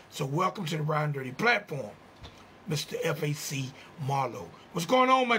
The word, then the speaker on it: Fac Marlo: Yeah, it's Fac Marlo. FAC standing for Family Always Counts.